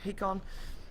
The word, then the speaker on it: Hakon: Massacre will be playing the Darkseer, Hakon on the Rubik, as I've been told to pronounce his name, so it's Hakon.